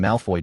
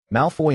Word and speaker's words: Malfoy: Malfoy in French Malfoy signifies evil or harmful, and its pronunciation resembles malform.